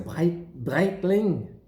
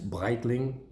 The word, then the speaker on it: Breitling: In German, they'd say Breitling. In French, it's Breitling, but the R is always a bit tricky. Actually, the Germans say the R, but not the French, really.